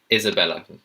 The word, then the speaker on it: Isabella: The next one is Isabella. Isabella. Isabella. So, it's not is I know there's an S there, but it's not an Isabella.